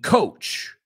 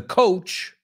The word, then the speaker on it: coach: And ojo con la palabra coach. He oído gente pronunciar mal couch, que es sofá, y coach. So vamos a decir esta frase. The coach is on the couch. El entrenador está en el sofá. They are not homophones, although I've heard people pronounce them that way.